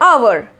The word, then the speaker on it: hour: silent for example an hour this word begins with the consonant H but the H is silent and hence we use